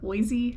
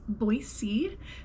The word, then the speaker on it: Boise: to admit at first I was calling it Boise Idaho and I learned real fast that that is not how you pronounce it it is Boise so I am in Boise Idaho I also just wanted to show you